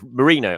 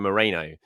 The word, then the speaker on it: Merino: Or Merino. I keep calling him Moreno. It's Merino, and I need to keep slapping myself in terms of the pronunciation.